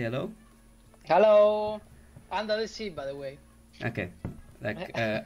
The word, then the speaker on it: UNDAtheC: with UNDAtheC, I do not know how to pronounce his name. sound designer of Freejam. Say hello. Hello, under the sea, by the way. Okay, under the sea.